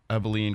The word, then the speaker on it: Abilene: other side we got number two Kentucky versus Abilene Christian am i pronouncing that right yep you are all right